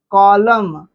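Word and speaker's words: column: N silent हो जाता है। जैसे लिखिए कॉलम सॉलम गवर्नमेंट गवर्नमेंट में एम के पहले एन आता है।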